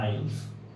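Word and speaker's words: Isles: इसे लिखा जाता है आइल्स एस साइलेंट हो जाता है तो द्वीपों के समूह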